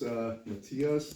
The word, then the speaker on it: Matthias: Yeah, my name is Matthias. It's Matthias like Matthew.